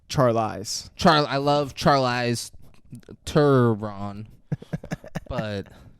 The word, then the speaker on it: Charlize: David, you keep pronouncing the name wrong. It's Charlize.